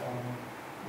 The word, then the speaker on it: Om: That's why we chant Om with three syllables sometimes.